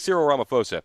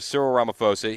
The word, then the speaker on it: Cyril Ramaphosa: It says PH. That makes the F sound. So I think it's Cyril Ramaphosa.